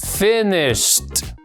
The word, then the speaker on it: finished: Entonces al transformar este verbo en pasado, no se pronuncia finished, sino que vamos a poner ahí este sonido y quedaría así. Finished. No se pronuncia finished, sino finished. Un ejemplo más, este verbo